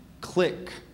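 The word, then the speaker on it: clique: indelible that's correct right this word has a homonym click and this click is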